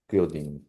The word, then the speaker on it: Cialdini: Fialdini, I Cialdini.